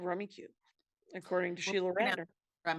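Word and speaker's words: Rummikub: in the backyard but it's spelled rummy cub but it's called rummy cube according to sheila ranner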